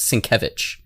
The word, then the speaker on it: Sienkiewicz: It's spelled Sienkiewicz, but it's Polish, so it's pronounced Sienkiewicz.